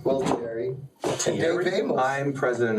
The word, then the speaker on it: Gualtieri: And, who I can never pronounce his last name. Gualtieri. Gualtieri.